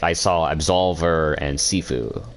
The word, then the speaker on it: Sifu: I saw absolver and sifu or Shifu I think it's sifu though because there's no sh it again I don't speak